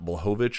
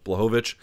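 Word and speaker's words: Błachowicz: guson defeats Yan and I've been mispronouncing this guy's name forever bovich apparently I thought it was blowitz but whatever bovich 30 27s across the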